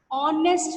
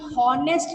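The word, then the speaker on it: honest: अब यहाँ पर जरा सा आप ध्यान दीजिए, यहाँ पर आप देखोगे ऑनेस्ट मैन, भले ये एच जो है आपका कंसोनेंट है लेकिन हम हॉनेस्ट नहीं पर बोलते हैं।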